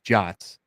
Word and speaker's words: JWT: with this was, 1, you're pronouncing JWTs JOTs, and I know Yeah, that's the official kinda, I think, name of pronouncing it, but I don't know why I don't like that name.